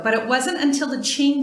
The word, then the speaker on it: Qing: Heart stone carving goes way back in Chinese art history more than 4,000 years ago, but it wasn't until the Qing (pronounced: Ching) Dynasty that this practice really took off.